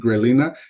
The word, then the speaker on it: grelina: Creo que se pronuncia en español grelina, en inglés le decimos así nomás como ghrelin.